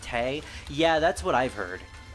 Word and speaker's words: Tewi: pronoun tewi is pronounced Tay yeah that's what I've heard apparently that's the Japanese pronunciation and a lot of